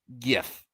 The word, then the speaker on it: GIF: Twitter Todd fig backwards GIF it is the hard G it's a hard f